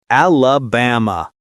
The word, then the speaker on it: Alabama: That's Alabama. The stress is on the third syllable. Ba. Don't say alaba or elab. Americans flatten that middle vowel with a schwah.